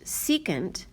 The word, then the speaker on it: secant: This one is pronounced cosecant, this one is pronounced secant, and this one is pronounced cotangent.